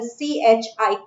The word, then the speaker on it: chi: Mole fraction, that is chi. This is not your X. What is this? This is pronounced as a CHI, chi.